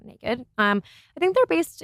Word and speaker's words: NA-KD: sure how it's pronounced it's na-kd so naked um I think they're